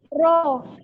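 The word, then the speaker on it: ρ: Massa jenis itu apa nih bacanya? Masih ingat nggak? Rho.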